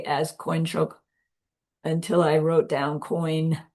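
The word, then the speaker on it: དཀོན་མཆོག: But the way it's pronounced is like there's a Y before the N.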